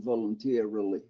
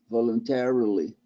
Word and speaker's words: voluntarily: How many syllables in voluntarily? I just showed you. Okay, no, but how many? 5? Was it 5? 1, Okay. 2, 3, 4, 5. Voluntarily.